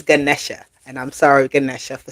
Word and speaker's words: Ganesha: She said, tell me, I just heard she say it's not Ganesha, it's Ganesha.